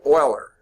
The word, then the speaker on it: Euler: Leonard Euler is how you pronounce his name.